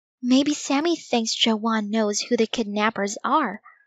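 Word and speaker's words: jaune: only I pronounce it Joanne, like her name. Dinkas? Josh said. What's this got to do with anything? Don't you guys see? Dink said. The French word for yellow sounds just like Joanne.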